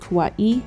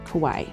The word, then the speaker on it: kawaii: so let's pause and look up what exactly kawaii art is and yes it's pronounced kawaii not kawaii the japanese concept of kawaii is best translated